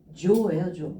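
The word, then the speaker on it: 情: 이 뜻정자는요. 음독이 조예요. 조라고 읽어주시면 되겠습니다.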